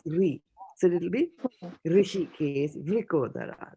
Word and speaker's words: Vrikodara: Okay, how will you pronounce this last word? These two together? Vra. Vru. Ra, Vru. Vrukodara. Vrikodara.